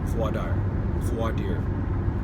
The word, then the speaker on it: voir dire: My favorite part, bar none, was voir dire, no, correct pronunciation, jury selection, in layman's terms.